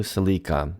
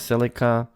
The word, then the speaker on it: Celica: But let me jump right into the first one, which is about the new Celica. Well, we pronounce it Celica here in Canada. In the US, I think it's Celica.